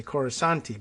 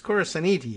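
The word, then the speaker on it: Corasaniti: coruscan uh cara saniti i thought it was going to say coruscanti but it's chorus aniti is what it's spelled like uh karen yorish and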